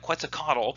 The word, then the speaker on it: Quetzalcoatl: Think about the Epic of Gilgamesh, all these amazing people that were able to, and I can never say his name right, Quetzalcoatl in the Mesoamericans, actually did it right that time.